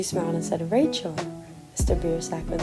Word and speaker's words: Biersack: my eyes and waited for a few moments beer sack I said it's pronounced beersack women gave me a smile and